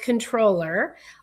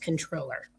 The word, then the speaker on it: comptroller: But it's technically with the COMPT, it's still supposed to be pronounced controller.